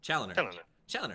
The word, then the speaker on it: Chaloner: Chaloner, Yeah.